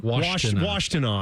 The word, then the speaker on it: Washtenaw: I still don't know how to pronounce it. Just reading it. Yeah, what is it called again? I believe it's Washtenaw. Washtenaw.